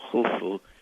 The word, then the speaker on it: Khufu: sieve that is pronounced so it's U, F, U, Khufu, which we call Cheops in English.